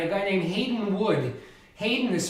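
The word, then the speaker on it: Haydn: his own right a guy named hayden wood hayden is spelled like the composer joseph hayden h-a-y-d-n wood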